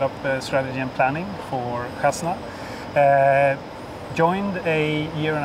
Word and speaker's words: Khazna: what your responsibilities are congratulations on very good pronunciation of kasna by the way I'm not arabic speaking but